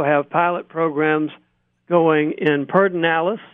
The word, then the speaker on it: Pedernales: We also have pilot programs going in Pedernales, and that is the proper pronunciation, although it's not spelled as you might think that way, and Bluebonnet, two areas to the southeast and southwest of Austin.